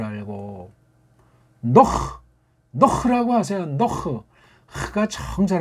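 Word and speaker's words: נֹחַ: 이게 노아가 아니고 노흐. 노흐라는 발음을 서양 아이들이 못합니다.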